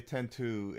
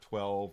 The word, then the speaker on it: X-2: I can tell you 10-2, and that's the way it's said, is 10-2, not 12, not X2. It's 10-2 is how how it's supposed to be pronounced.